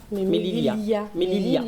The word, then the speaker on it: Melilla: Mélila, Mélilia, on dit. Lilia. On prononce 2 fois le i en fait. Ouais. Ça fait, pour eux ça fait mieux, mais ils le prononcent 2 fois en fait.